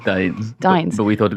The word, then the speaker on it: Dines: It's Dines.